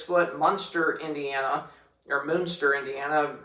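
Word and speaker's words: Munster: Monster Indiana or Moonster Indiana. It's probably probably pronounced Moonster obviously for the the Moonster Cheese.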